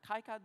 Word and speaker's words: KiCad: This is KiCad or KiCad, depending how you pronounce it, the open source software which we use for the layout.